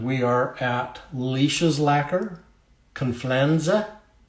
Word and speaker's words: Confianza: And we are at Leish's Lacquer, Confianza. Rhymes with George Costanza.